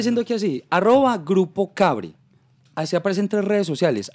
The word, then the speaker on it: Kbre: Pero no sin es cable, no es catre, no es cabre, no es cabra, no, nada de eso.